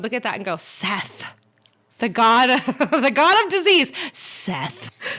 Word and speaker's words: Seth: Set. Yep. And it looks like Seth, but it's pronounced Set.